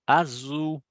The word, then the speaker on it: azul: Mas não sei se vocês prestarem atenção, ela falou azul. Por que azul? Porque o L no final vai ter um som de U, né?